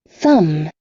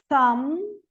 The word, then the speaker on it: thumb: thumb, Thumb.